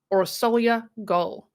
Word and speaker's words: Orsolya Gaal: was originally from hungary so i've heard her name pronounced many ways but the most commonly heard way is aura solya goal she was 51 years